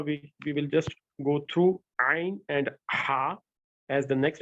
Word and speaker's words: ع: Don't give a jerk on Ain. That's the basic point to remember. It's not like Hamza where you give a jerk, like we said, yes, alu. Not like that. But it's a lengthened letter. Okay, you have to give it length and you have to pronounce it softly.